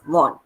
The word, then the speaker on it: Vaughan: henry vaughan henry vaughan v-a-u-g-h-a-m pronounced as von right so all these